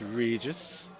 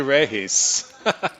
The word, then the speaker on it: Regis: You're using the western pronunciation of the name of course, Regis. Ano? Okay. Uh bab of course the localized pronunciation would be reisam race. It's actually race talaga.